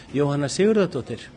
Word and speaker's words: Jóhanna Sigurðardóttir: How do you pronounce her name? Jóhanna Sigurðardóttir.